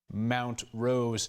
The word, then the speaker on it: Montrose: Mount Rose. So there you have it. City manager says, at least that's how most people around City Hall pronounce it, and that's what we're going for here.